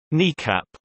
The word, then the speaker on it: NEACP: The E-4 fleet was originally deployed in 1974, when it was termed National Emergency Airborne Command Post (NEACP), often pronounced NECAP.